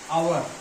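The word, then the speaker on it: hour: फिर एक आता है आवर। येसोनेंट से स्टार्ट है। लेकिन इसका उच्चारण ऐसे होता है। आवर इसलिए इसके पहले एन आवर लगा ये बहुत ही माइनर था।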